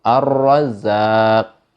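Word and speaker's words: الرزاق: Ar-Razzaq begitu. Itu contoh ar-ro, bacanya tebal.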